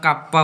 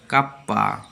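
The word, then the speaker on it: kappa: কে কে কে ওরা কাপ্পা বলে থাকে, কাপ্পা কাপ্পা।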